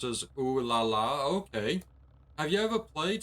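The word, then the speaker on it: Ulala: Uh you know her name's pronounced as Laala.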